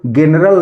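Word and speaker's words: general: एल क्या पढ़ेंगे इसको जनरल नहीं पढ़ेंगे इसको हम जनरल पढ़ेंगे तो इसी तरह अगर जी के बाद ई आया हुआ है तो उसको हम ज के रूप में प्रोनाउंस करते हैं ना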